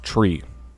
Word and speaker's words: tree: three five and nine three pronounce phonetically Krauts tree if the thing with